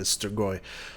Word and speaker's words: Strigoi: obiously it says Armada stroy which I was happy that it say stroy correctly probably not the right accent and pronunciation but at least the right sound I guess it would